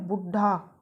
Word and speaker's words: बुड्ढा: जैसे लिखा हुआ है बुड्ढा बुड्ढा हम बोलेंगे हम डौ अर्ध वह इकट्ठा या संयुक्त रूप में आया है तो द का उच्चारण बहुत कम रूप में हम करते हैं ना के बराबर तो यहां पर यह